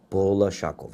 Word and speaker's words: Bolashakov: Am I pronouncing it? Bolashakov, yes, that's correct.